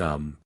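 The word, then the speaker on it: homme: a piece of bark he learned from darnet that it was pronounced um and in the same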